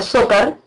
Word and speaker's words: Zócar: Y el antagonista de la historia es Zócar, en realidad se pronuncia Zócar.